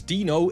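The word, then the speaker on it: Deeno: MiniForce Dino King isn't a MiniForce movie.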